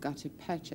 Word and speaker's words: gutta percha: and became, as it was made out of gutta percha in those days. Is that the right pronunciation?